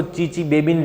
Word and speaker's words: Chichibabin: जैसे सुनामी, तो सुनामी नहीं बोलते, उसमें TS है, जो तो है वो साइलेंट होता है। साइकोलॉजी में पसाइकोलॉजी नहीं बोलनी है, उसमें P क्या होता है भैया, जो साइलेंट होता है ना, ऐसे TS यहाँ पे साइलेंट है। इसको चीचीबेबिन रिएक्शन ही बोलना है।